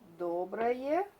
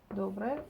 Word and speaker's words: Доброе: Let's take доброе. It's also an expression. Доброе утро. We mispronounce O. We pronounce A instead of O because it's not under emphasis.